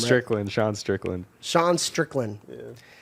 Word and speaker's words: Strickland: forgot I ate that earlier well anyways Sean sterland could you make sure I pronounce his name right Strickland Sean Strickland Sean Strickland yeah SE Sean Strickland